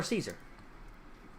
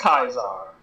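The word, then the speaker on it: Kaiser: says excuse me um father Caesar I I it's pronounced kisar uh yes of course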